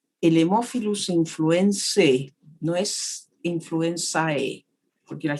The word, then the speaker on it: influenzae: Y aprovecho de decirles aquí que ahí tienen ustedes, este es un nombre latino, tiene una combinación AE que se pronuncia E. El Haemophilus influenzae no es influenzae, porque la gente dice influenzae, no.